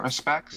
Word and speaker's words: Haruspex: Haruspex.